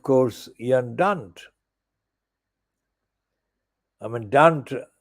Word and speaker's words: Dunt: I mean, Dunt actually rhymes with the C word.